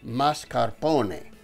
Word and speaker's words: mascarpone: It's pronounced mascarpone.